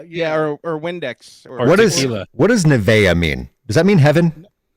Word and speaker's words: Nevaeh: or windex what does nevaeha mean does that mean heaven yeah it's heaven spelled backwards oh okay the h is silent that makes sense oh